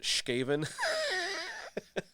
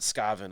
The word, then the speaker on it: Skaven: uh throw lash print says he's going to pronounce it shkaven or you can pronounce it scaven i guess otherwise i'll see you